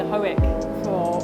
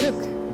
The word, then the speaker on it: Hoek: So today's my second day here at Hoek. Actually, that's one thing I learned. I've been saying Hoek for months, and I just found out it's actually pronounced Hoek.